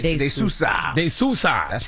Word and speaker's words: De Sousa: Did I pronounce that right? De Sousa. De Sousa.